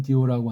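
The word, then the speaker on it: διό: 그러면서 4장 8절로 이어지기 때문에 1절, 7절과 8절이 관련이 되는데 구분짓는 디호라고 하는게 있는 거예요. 발음은 디오라고 하는데 그것 때문에 그러니까이 앞에 것에서 이제 한축 정리하면서 더 나아가는게 4장 8절이에요.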